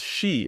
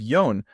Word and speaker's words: shi: people count to 10 they use the number four as she instead of yon just because it has a better Tempo so let's try counting